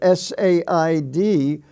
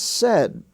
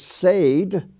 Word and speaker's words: said: spelling family you have s-a-i-d which is pronounced said it rhymes with red there is no such word as said it's said and in